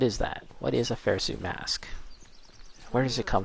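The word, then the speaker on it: Phersu: might mispronounce it but it was something like fair su mask and that's p h e r s u fair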